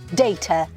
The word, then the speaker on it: data: 미국은 innovative 영국은 innovative 데이터 데이터라고 하시면 안 돼요 어떻게 할까요 강세를 살려서 데터 데이터라고 해야 됩니다 데이터라고 하지 말고 데이터 앞에 강세를 주시면서 data laboratory laboratory 실험실이라는